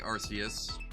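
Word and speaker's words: Arceus: happens, like uh like Arus. It's not pronounced with a hard C.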